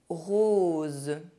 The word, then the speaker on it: rose: The letter O is pronounced O when followed by a Z sound. Z, like the little bee. Une chose. Rose.